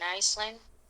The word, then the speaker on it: island: O sea, la palabra isla en inglés se escribe con S, pero la S no se pronuncia.